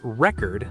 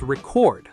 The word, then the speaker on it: record: As a noun, it's record, like I broke the world record. But as a verb, it's record, like please record this video.